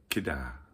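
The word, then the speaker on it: Кедр: And here I am on the shores of Lake Baikal, staying at the Baikal Cedar Hotel, although in Russia they pronounce it Kedar. Baikal Kedar Hotel.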